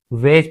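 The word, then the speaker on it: wedge: तो इसे हम वेज पढ़ते हैं। Only वेज। ठीक है? यहां हमारा डी साइलेंट हो जाता है।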